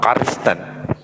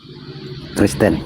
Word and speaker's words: Kristen: Sore Sore bang eh karisten Kristen bukan karisten benar penyebutan biasa-biasa aja